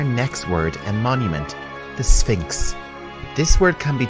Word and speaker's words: Sphinx: word and Monument the Sphinx this word can be tricky to pronounce you have an S sound than an F sound Sphinx the Sphinx is a